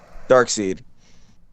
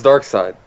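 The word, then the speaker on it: Darkseid: pronounced sees me who I thought was dark side it's dark side oh no it's like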